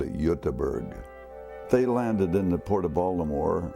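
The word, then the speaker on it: Göteborg: side where Gothenburg is or they call it yutaberg they landed in the Port of Baltimore about 1875.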